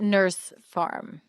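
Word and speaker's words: Nors Farm: And they pronounce it nurse farm, right?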